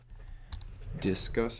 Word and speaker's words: Disqus: Discuss is spelled DISQUS, and it's the best.